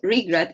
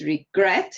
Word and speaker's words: regret: E in regret, and it's not regret, it's regret, it's on the second syllable.